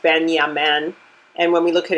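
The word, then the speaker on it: בנימין: And Benjamin's name is pronounced Benyamin.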